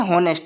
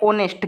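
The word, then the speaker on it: honest: में पूछा जाता है ऑनेस्ट ठीक है यहां पे इसको बहुत सारे बच्चे पढ़ते हैं नेस्ट लेकिन गलत इसको पढ़ते हैं ऑनेस्ट क्या पढ़ते हैं ऑनेस्ट इसमें एच साइलेंट होता है तो ऑनेस्ट के अकॉर्डिंग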